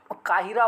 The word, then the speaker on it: काहिरा: और फिर देखिए, आप अंग्रेजी में इसको प्रोनाउंसिएशन कीजिएगा तो कायरो निकलेगा, बट इसको हिंदी में काहिरा बोलते हैं, इसीलिए आपको यहाँ पे स्पेशली लिख दिया गया है काहिरा।